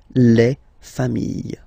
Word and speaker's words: familles: Famille, singular form. Famille, plural form. Same pronunciation, S, not pronounced, okay?